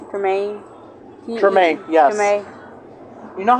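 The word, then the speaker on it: Tremé: Tremaine, yes. Tremaine. You know how I know how to pronounce most of those words?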